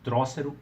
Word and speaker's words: Trócero: Mas aí no Pipoca e Nanquim eles falaram, não, essa é a pronúncia correta, Trócero e Próspero.